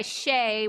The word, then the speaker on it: Shay: in shy yeah so my grandma calls me Shai and I kind of Reserve that for her and then I I go by Shay with everyone else and I just spell it s ha A Y just for ease um